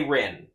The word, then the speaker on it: Rin: Like I've said a million times over, the R and L thing with Japanese is a little weird.